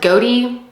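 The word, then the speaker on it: Gowdie: I've heard her last name pronounced Goaty and Gaudy. So, I don't know. I'm just going to say Gaudy, but yeah, she was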